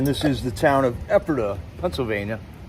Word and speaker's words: Ephrata: the exact same thing, only they called it Ephrata. So it's a couple of different spellings. It's a name out of the Bible. We pronounce it here as Ephrata.